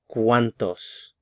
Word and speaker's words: cuántos: The stress is on the first syllable, cuán. ¿Cuántos?